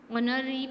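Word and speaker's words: honorary: Now next है mister Sharma is अन ऑनररी president of this committee. तो इसमें भी एच साइलेंट है और वोवेल का साउंड आ रहा है, सो AN.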